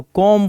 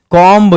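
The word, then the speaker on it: comb: इन the same way आपको कॉम पढ़ना है, कॉम्ब नहीं पढ़ना है।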